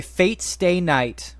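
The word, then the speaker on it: Fate/stay night: it to me okay Fate Stay Night Fate slash Stay Night much like Hunter Hunter you're not supposed to say the slash uh it's just uh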